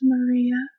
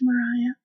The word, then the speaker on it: Mariah: So for starters, I just want to point out that my name is not pronounced Maria, like many people would believe. It's Mariah.